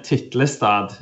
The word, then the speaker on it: Tiltestad: Actually, Dan Wood did a great job pronouncing my name. It's Tiltestad in Norwegian, and he should perhaps give his take afterwards.